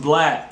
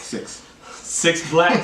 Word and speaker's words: 6lack: little little more Universal I have black pronounced black six leg for now black um now he had